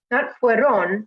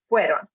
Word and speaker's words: fueron: So it's the first part, the first half, that should be the strong part in the pronunciation. So not fueron, with the second part being the strong part, but the start, fueron.